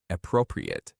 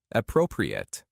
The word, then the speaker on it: appropriate: This word has two different pronunciations and meanings depending on how you use it. As an adjective, it means suitable or proper, and it's pronounced like appropriate, appropriate.